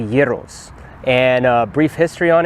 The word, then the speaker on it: gyros: pronouncing it right so for the longest time i thought it was uh gyros or gyros but or heroes but i've heard heroes but it's actually gyros and a brief history